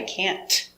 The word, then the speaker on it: can't: We don't pronounce the T hard. Make a stop T.